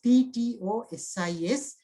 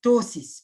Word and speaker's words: ptosis: The pronunciation, the spelling is P-T-O-S-I-S, but the pronunciation is ptosis, P is silent, ptosis.